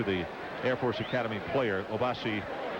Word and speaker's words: Obasi: The correct pronunciation, Obasi Onaha.